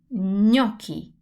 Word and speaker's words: gnocchi: Same thing happens with ñ. Now, if you study Spanish, you must be familiar with the sound because it's the sound N with the little wave on top.